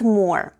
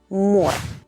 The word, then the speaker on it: мор: МОР /morr/, which is exactly how you pronounce the word for a collection of... dead bees. Say it with me: МОР /morr/.